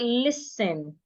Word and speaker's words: listen: The letter T in that word should not be heard. It is silent. So we should not say listening. We say listen, not listen.